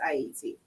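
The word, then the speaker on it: Ayiti: For those who are you're joining and listening in Creole, it's pronounced Haiti, right?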